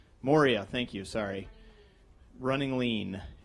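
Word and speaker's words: Maurya: day Ash M mama is that how you pronounce his last name Moria thank you sorry running lean uh is the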